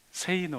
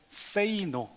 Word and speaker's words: 세이노: 책을 쓴 저자의 필명이 세이노 그래요 그 세이노 원래 발음은 이렇게 하면 안 되고 세이노 그 영어에 세이 그리고 노 어 되게 깨닫는 소리가서 틀리는데 세이노 노를 외치라라는 아 그런 필명을 가진